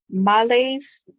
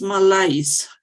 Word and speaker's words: malaise: situation okay okay um males do you pronounce it like that no it's malaise yes okay yes my lies